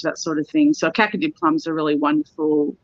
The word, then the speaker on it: Kakadu: lillypilly yeah and then cacao plums i'm not pronouncing that right yeah what kind of plum it's called kakadu plums so kakadu plum is